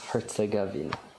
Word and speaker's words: Herzegovina: It's the Bosnia hyphen, a name I couldn't say, gave me a pronunciation. It's Herzegovina. Herzegovina, maybe. Herzegovina.